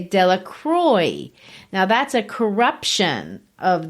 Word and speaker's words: Delacroix: If you want to say they mispronounce it, if you're French, they don't say Delacroix like the French might, or, that's my version of how the French might say it. They say Delacroix.